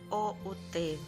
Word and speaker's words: cout: Fungsi cout, jadi COUT, kita membacanya cout, bertujuan untuk menampilkan pesan ke standar output, biasanya monitor.